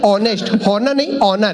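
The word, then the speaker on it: honest: का ऑनर होता है अब ये बोला ऑनेस्ट नहीं ऑनेस्ट इसमें एस साइलेंट आता है अब हम दोनों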